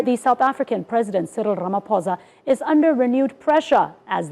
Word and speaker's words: Ramaphosa: Ramaphosa. I'm here for it. It's called a trill. That's like a vocal trill. Yes. Ramaphosa.